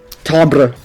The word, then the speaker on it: timbre: How do you pronounce that word? Timbre.